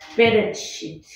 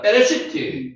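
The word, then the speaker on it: בְּרֵאשִׁית: 베레시트. 베레시트 예, 정답입니다. 베레시트 베레시트 레시트 베게 이제 베로 읽어도 상관없고요. 빼로 읽어도 상관없습니다. 베레시티.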